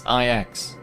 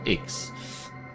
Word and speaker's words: IX: It's IX, not X.